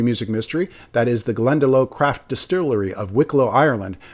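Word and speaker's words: Glendalough: That is the Glendelo Craft Distillery of Wiklo Ireland.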